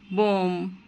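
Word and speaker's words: bomb: আমরা কখনোই বলবো না থাম্ব কখনোই বলবো না, বলবো থাম। বিটা উচ্চারণ হবে না, বি হচ্ছে সাইলেন্ট লেটার। যেমন কোম, বোম, থাম, ক্লাইম।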